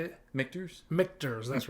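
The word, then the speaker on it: Michter's: I want them in can 10 year the M mner uh I'm not saying that right mters yep how do you say it mters mters that's right mters mters they're uh they're 10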